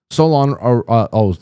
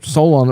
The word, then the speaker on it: Solon: I am packaging up a few items from Solon, Maine. Solon, Solon rhymes with colon.